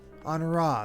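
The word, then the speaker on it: Honoroit: Honora, that's how you say it. It's French. Amy still needs to see the direct. No. What have they done to you? Onowa!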